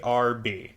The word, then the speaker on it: herb: Although, I will also point out, in some dialects, people pronounce the H on herb, even if they're talking about, like, parsley and stuff.